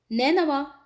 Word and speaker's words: نینوا: صحیح قرار پاتا ہے۔ نینوا، جس کا صحیح تلفظ نون کے کسر کے ساتھ ہے، اور ایک قریہ تھا